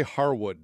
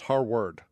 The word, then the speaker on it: Harward: noticed in the article you want to say Harwood don't you but it's Harwood yeah and I noticed